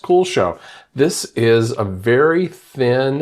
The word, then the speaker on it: Kuxiu: Yes, Kuxiu is pronounced Kuxiu.